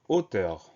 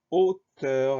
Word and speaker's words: hauteur: Alors, on a un H muet au début du mot. Le son O de hauteur s'écrit AU. Le son E de hauteur s'écrit EU. Donc, pas de difficulté particulière, mis à part ce H muet et ce son O qui s'écrit AU.